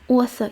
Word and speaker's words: author: Так, до речі, пишеться аутхор, я б навіть сказала, як тхір. От, але читається author. Чому так? Тому що A, U разом завжди будуть читатися як O.